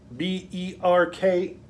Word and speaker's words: Berkey: you find berkey b-e-r-k-e-y sounds like what i call birkenstocks but it's not birkenstocks it's berkey and it's spelled completely different but uh berkeys if you find a